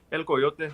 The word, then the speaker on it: El Coyote: How you say it? El Coyote. Yeah, There we go.